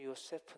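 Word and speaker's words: יוסף: 술이라는 그 인물의 이름은 요 이어 스 먹어도 발음합니다 그리고 요세프 는 하나님께서 더 하실 것이다 하나님께서 털실 를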